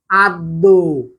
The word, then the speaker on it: আদ্য: যদি শব্দের শুরুতে অ থাকে, এরপরে যদি জ ফলা থাকে, তাহলে সেই ক্ষেত্রে অ এর উচ্চারণ ও এর মতো হয়।